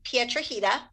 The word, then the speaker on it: Piedrahita: on facebook i'm pietrajita you want me to spell it uh sure put the link okay it's it it rhymes with margarita how appropriate anyway p